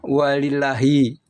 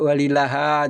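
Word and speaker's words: وَلِلّٰهِ: wawu dan ini lafaz Allah dibacanya walillahi Kenapa tidak walillaha atau walillahu itu nahu ahli Nahwu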